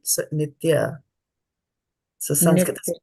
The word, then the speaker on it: नित्य: nitya, not nitye.